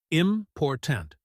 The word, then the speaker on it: important: The stress is on the second syllable. Repeat, important.